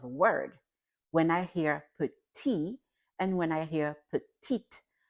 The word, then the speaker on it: petit: So the first one, petit, the T is silent because that is a consonant at the end of a word.